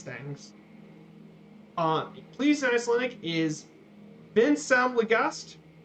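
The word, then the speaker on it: vinsamlegast: because sometimes people might have a hard time pronouncing these things. Please in Icelandic is Vinsam Legast. Vinsam Legast.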